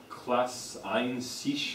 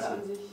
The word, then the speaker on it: Klasse an sich: Was it a Klasse ein sich or something? What's a class? Klasse an sich, ja. How do you say it? Klasse für sich or an sich. Klasse ein sich. An sich.